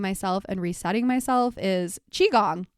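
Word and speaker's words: qigong: and resetting myself is chiong I don't know if you guys have heard of it it's spelled with a Q so it's a little bit tricky to find but chiong has been really beneficial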